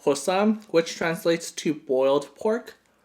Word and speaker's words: Bossam: be and posts on is pronounced like a P so it's called possum which translates to boiled